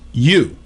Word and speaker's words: eu: Right now, 2095 is EU, pronounced you, which means good, well.